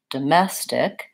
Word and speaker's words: domestic: word domestic so again let's start with looking at which syllable is stressed so we have second syllable stress here domestic so the mess is longer it's the same as